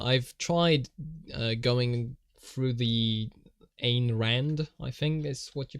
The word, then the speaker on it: Ayn Rand: I think I've typed this before, but Ayn Rand, okay, or Ein, like Einstein. I might be pronouncing Einstein the German way, but Ayn Rand, is that correct?